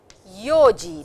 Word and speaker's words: 四時: So over here you will see that yon is a little different. It is not yon, it is yoji desu. Yoji desu. So for time, please remember it is yo and not yon.